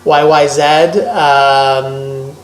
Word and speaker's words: YYZ: Tom Sawyer, Red Barchetta, YYZ, not Z in Canada, it's pronounced Z. YYZ, and Limelight.